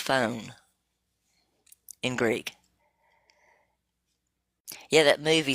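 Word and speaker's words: φωνή: But it literally is, it's G 5456, and it's pronounced phone in Greek.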